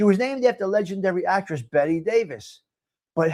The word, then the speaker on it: Bette: She was named after legendary actress Bette Davis. But, how did they change it to Bette? Okay, I don't know. However, while Davis pronounced her first name Betty Davis, Bette Midler's family pronounced it Bette, b e t t e.